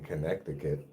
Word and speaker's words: Connecticut: Nobody says that middle C for some reason when they're pronouncing it, but I like to pronounce it that way.